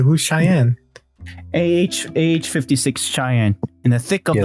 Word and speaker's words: Cheyenne: who's cheyenne ah 56 cheyenne in the thick of the 50s yeah i think that's pronounced cheyenne right like cheyenne cheyenne wyoming i think that's it